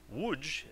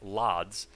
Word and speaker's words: Łódź: Łódź is actually pronounced nothing like Lodz, it's more like Łódź.